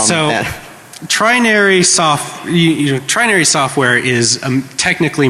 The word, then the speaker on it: Trinary: It's Trinary, Trinary, like 3 naries. All right, so Trinary Trinary software is a